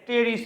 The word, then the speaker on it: Pteris: আর ঢেকি শাককে ইংলিশে বলা হয়ে থাকে টেরিস বলা হয়ে থাকে, PTERIS। পি উচ্চারণটা কি থাকবে?